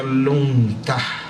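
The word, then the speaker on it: lungta: En realidad el caballo, en términos tibetanos, la palabra se pronuncia lunta, y esto quiere decir caballo de viento.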